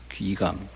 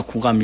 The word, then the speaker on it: 귀감: 그런데 절에서는 노스님들이 많이 경을 가르쳤기 때문에 거북, 귀 이렇게 안 하고요. 거북, 귀 이래 안 하고 귀감. 그냥 구라고 읽어버려요. 선가, 귀감 이래 안 하고 선가, 구감 이렇게 읽어버려요.